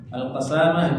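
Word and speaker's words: القسامة: Alqasamah fathil qf watf sin al muhmalah. ejaannya itu adalah qfnya fathah watf sinnya maksudnya tidak bertasydid bukan qasamah tapi qasamah dan ini tradisi ulama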